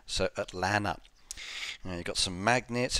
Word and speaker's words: Atlanta: told i've got to pronounce atlanta without the second tee so atlanta now you've got some